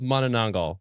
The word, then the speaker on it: Manananggal: sounds like a drink I've heard many different ways of pronouncing it there's men and Engle men and andal and the manangel I think monango monang monango is the one that I actually looked up the pronunciation of it and an actual Filipino person was on the YouTube video telling me how so I'm gonna go with man ngal man ngal okay